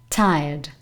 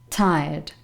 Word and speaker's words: tired: that's interesting number three tired tired you don't pronounce this letter here to silent letter and remember that there's a slight aspiration at the beginning tired tired i'm so